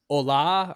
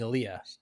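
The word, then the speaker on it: עלייה: what she meant and they realized that they were pronouncing it wrong and it was like Ola or something like that and what it actually meant was it meant that she was um making Aaliyah oh to to Israel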